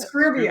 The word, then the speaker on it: Scroobius: Scrubious. Scroobius?